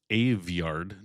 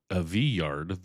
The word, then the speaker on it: Aveyard: Aveyard, by the way, that's Aveyard, not Aveyard, the way it looks on the page. It's a real Yorkshire surname, most consecrated around Dewsbury and Wakefield, and the dialect pronunciation is documented in an actual scholarly surname dictionary, which is more